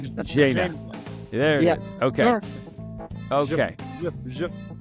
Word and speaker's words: Zhenya: I'm going to let Tyler say it because he's better at pronouncing things, but it's Zhenya. It's like Zhenya.